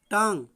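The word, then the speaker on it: tongue: Next है, next example है TANGUE, इसमें भी आपका U और E जो दिया है, U और E ये आपका साइलेंट है, ठीक है। तो TANG क्या हुआ, टांग।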